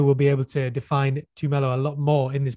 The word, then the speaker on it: Tumelo: Well, I pronounce it Tumelo, but I guess it's up to interpretation, maybe. Well, I'm going to go with Tumelo as well and try and remember to pronounce it that way.